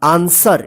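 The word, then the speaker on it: answer: पढ़ेंगे आंसर ए एन एस डब् ई आर आंसर देखिए यहां पे यहां पे भी डब्लू क्या है साइलेंट रहता है ठीक है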